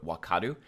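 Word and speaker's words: 分かる: For example, it can mean understand, like to understand, in the verb wakaru. And in that case, it's actually pronounced as wa, this kanji.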